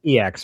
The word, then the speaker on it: EX: I think it's it's not pronounced X. It would it would be pronounced EX, right?